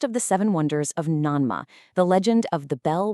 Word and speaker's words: Nanma: We're looking at the exact location of Shogan-ji Temple, right in the Nanma district, pronounced Nanma.